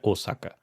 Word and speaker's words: Osaka: japoneses citam comoa, esse mais fechado, né? Osaka. Ah, como se não tivesse acento, né? Que se fosse a segunda sílaba tônica, né? Ossa. Eles não não costumam usar esse a aberto, né?